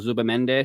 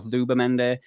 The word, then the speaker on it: Zubimendi: talking about the whole Zubimendi stuff right now, or Zubimendi. I know you're supposed to pronounce it as a TH.